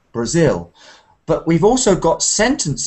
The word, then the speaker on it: Brazil: for example we've got words like Japan and Brazil where the stress comes uh at the end not the beginning so we've got Japan Brazil but we've also got